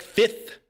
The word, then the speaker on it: fifth: Like fifth. Think about it. Fifth. We just completely omit the F.